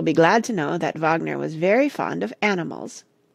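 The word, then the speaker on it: Wagner: is a list of the operas by rard Vagner with their names pronounced the fairies 1833 D lius forbo 1836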